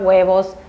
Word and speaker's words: huevos: So here you have película, huevos, the H is silent, leche, pan, parque, and calle.